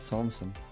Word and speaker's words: Thompson: You don't pronounce it th just Thompson. Thompson.